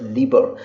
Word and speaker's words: Libre: It's not Liber, it's Liber. So LibreOffice writer is what we are going to learn.